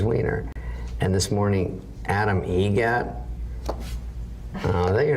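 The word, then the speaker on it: Eggert: How do you say the name? Adam Egget. Egget. Spelt differently. Like the bird. That's Egret.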